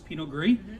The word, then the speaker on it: Pinot gris: white wine drinker buy a pinot gris g-r-i-s pinot gris yes is silent and you can't go wrong with willamette